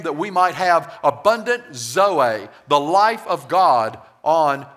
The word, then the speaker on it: zoe: And the word life here is the Greek word zoe, Z-O-E. It's spelled Z-O-E, and it's pronounced zoe.